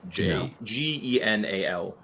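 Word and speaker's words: ginnal: And Janelle, if you're looking for an island term for dishonest, Janelle would be it. Genal.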